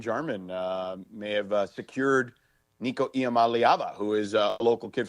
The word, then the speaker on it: Iamaleava: may have secured Nico Iamaleava, who is a local kid from Long Beach. So, Wait, how do you say his name again? Iamaleava. Iamaleava. Because I thought it was like, I'm a leaving.